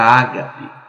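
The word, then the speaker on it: ἀγάπη: Mas o amor que é mencionado aqui em 1 Coríntios é algo chamado, que em grego se pronuncia ágape.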